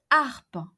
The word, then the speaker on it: harpe: So imagine that Mary owns a harp, une harpe, une harpe. H here is an aspirated H, H aspiré, une harpe, and not une harpe.